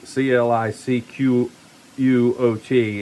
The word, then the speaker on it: Clicquot: So, it's uh you know, c c l i c q u o t is actually pronounced k l e e k - o, Clicquot.